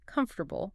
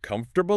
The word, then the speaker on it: comfortable: A beginner reads it and says comfortable. Comfortable airable. Clear. Right. Every syllable gets equal time and respect. But because of the rhythm of English, native speakers squish it down completely. They say comfortable. Comfortable. Wow. The entire middle part vanishes.